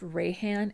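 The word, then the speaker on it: Reihan: And Rayhan says, just a small correction, my name is pronounced Rayhan as in Sunray. Well, thank you for correcting me. The EI was throwing me off there.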